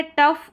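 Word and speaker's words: tough: फिर ये है टफ और ये है इनफ, इनफ, ठीक है, इनफ। तो ओ यू वाली स्पेलिंग्स है, यानी ओ यू के बाद में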